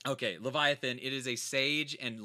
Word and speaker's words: Leviathan: from Tangiers it's the how do you pronounce this is it the Vivian Leviathan by a Leviathan yeah like the mythical creature okay Leviathan it is a sage